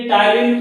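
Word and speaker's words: ptyalin: एक मिनट, ये टाइलिन थोड़ा स्पेलिंग देख लीजिएगा। पी से स्टार्ट होता है, पी से, जैसे निमोनिया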